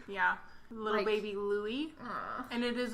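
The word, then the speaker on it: Luis: It is Louis. It's not Louis. Oh, so it's L-U-I-E? Nope. Oh, L-U-I-S? Oh, okay. But they're still calling him Louis. Yeah, like it's pronounced. Yeah, I can see that Louis. though. That's traditional. Yeah, like it's the very English way.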